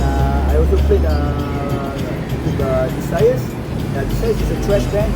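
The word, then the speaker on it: Decius: Desires is a thrash band.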